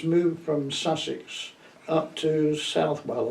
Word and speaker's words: Southwell: My parents moved from Sussex up to Southwell or Southwell, depends how you pronounce it, in Nottinghamshire.